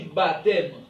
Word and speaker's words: baptême: ne se prononce pas on dit baptême on dit dompter P ok ne se prononce pas on dit donc ok